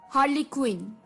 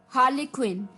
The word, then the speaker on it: harlequin: Word है ये भी थोड़ा सा अटपटा है, हार्लीक्विन। हार्लीक्विन, HARLEQUIN, हार्लीक्विन, HARLEQUIN, हार्लीक्विन।